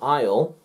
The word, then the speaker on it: aisle: a b and c so a is silent before or after another vowel before or after another